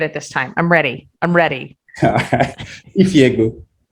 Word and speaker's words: Ifiegbu: Ifiegbu. Ifiegbu. Yeah, it's literally pronounced how it's spelled.